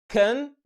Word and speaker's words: condolences: رابع مقطع صوتي بيحتوي على صوت متحرك اسمه short I، وده عامل زي كسرة بسيطة كده بتقول says، فيبقى نطق الكلمة condolences.